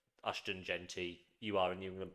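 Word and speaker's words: Ashton Jeanty: How do you pronounce his name? What, Ashton Genty? Genty, is it?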